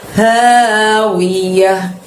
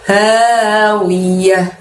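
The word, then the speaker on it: هَاوِيَةٌ: Fa ummuhu, hu-nya juga panjang 2 ya teman-teman. Hawiyah. Tebel ya dari tenggorokan bagian bawah. Panjangnya 2, wiyah. Yahnya berakhiran huruf hak sukun dan pendek.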